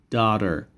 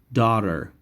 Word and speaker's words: daughter: boy daughter daughter daughter now remember gh is silent da der daughter and this t is pronounced as d sound daughter daughter daughter so a